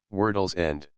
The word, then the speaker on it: World's End: this Lonesome spot was appropriately named World's End or it was locally pronounced wordles end the undulating down surrounded